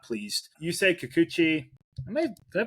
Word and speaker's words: Kikuchi: Yusei Kikuchi, did I pronounce that right?